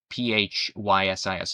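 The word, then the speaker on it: φύσις: Actually, it comes from the Greek word physis, Physis. It's pronounced physis, which literally means nature, right?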